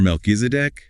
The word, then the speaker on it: Melchizedek: MelkiseDC. Right. In Hebrew, Melkisedc.